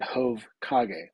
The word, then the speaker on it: Jovkage: head is hok and so I pronounce it HOV KAG see when you first